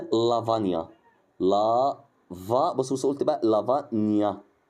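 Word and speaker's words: lavagna: كلمه زي او الحروف زي الجي ان ماشي دي كده برض الجي بتتنطق ني بتتنطق ايه ني زي كلمه لافانيا لا بص قلت بقى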